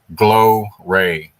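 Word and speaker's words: glowray: rating is radiating its glow ray. G l o w r a y instead of g l o r y. pronounced the same glow ray or glow ray.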